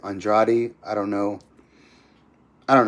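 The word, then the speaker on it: Andrade: The way he spells his last name is the same way that the Brazilians in the UFC like Jessica Andra and they pronounce it Andraj, but he I guess he says it Andradi.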